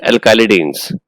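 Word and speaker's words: alkylidene: More appropriate pronunciation is alkylidines.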